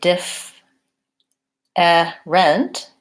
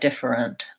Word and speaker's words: different: sound so for example in the word different or interesting I don't say DIF rent different rent the this e is silent and this e is the schwa sound it sounds like different and similarly interesting interesting